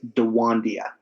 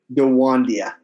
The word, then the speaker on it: DeWandia: Her name is Dewandia. Dewandia. Go ahead, spell it.